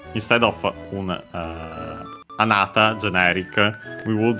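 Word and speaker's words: あなた: But yeah, anata accented on the na.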